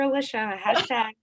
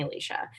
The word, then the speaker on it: Alicia: said my name wrong everyone calls me alicia but alicia and i always tell people it's like delicious which is like weird